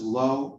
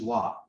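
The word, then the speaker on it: לא: just a small thing do you notice how it says low with the little dot over the line that's the hebrew pronunciation right the aramaic pronunciation is law so it seems to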